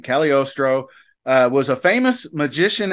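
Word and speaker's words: Cagliostro: it up to make sure I got the pronunciation right caliostro uh was a famous magician and Alchemist so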